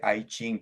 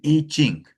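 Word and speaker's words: I Ching: No sé si más arriba pronuncié a ching, pronuncié la i como en inglés, disculpen. El iching.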